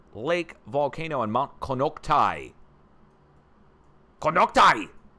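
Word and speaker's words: Konocti: Konoktai! I said it was Konokti. People tried to correct me.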